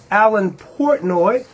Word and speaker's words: Alan Portnoy: His name is Allan Portoi. Did I pronounce that right, Alan?